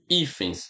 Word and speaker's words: hífens: A palavra hífen e a palavra hífens. Veja, viu? Hífens. Todas as palavras são paroxítona, tá? Por quê? Porque o acento tônico está aqui, ou seja, a sílaba forte é essa aqui, tá?